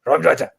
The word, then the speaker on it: Raumdeuter: That's how you say it in German. Raumdeuter.